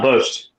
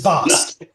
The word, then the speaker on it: Bost: By the way, It is not boast. Boast. Okay. It is not boast. This is not boast. It is Bost.